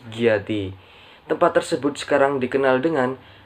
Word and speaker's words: Giyanti: Namun, oleh masyarakat Belanda atau company sering disebut dengan Iati, sehingga secara pelafalan menjadi Giyanti.